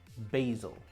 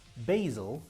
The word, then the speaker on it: basil: Now, what's basil? Is that the American pronunciation or the British? It's the American. Basil in England we call basil.